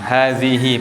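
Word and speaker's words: هذه: Semua hi di akhir kata dibaca panjang. Hadzihi panjang. Kecuali jika sebelumnya sukun maka pendek.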